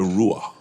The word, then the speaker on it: Ruah: The Ruah. The Raw. Hebrew. Ruah. Ruah. R-U-A-H. Do we pronounce Ruah.